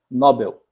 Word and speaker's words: Nobel: né o nome de um cientista e a pronúncia do nome cientista era nobel tá certo nesse segundo caso seria libero libero